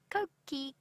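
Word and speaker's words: Coqui: It's also a bird that is very, very easily identifiable by its call because it says its own name. Koki, Koki. It is spelt C-O-Q-U-I, by the way.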